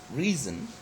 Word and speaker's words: reason: word reason okay so in the word reason the first syllable is stressed okay and when when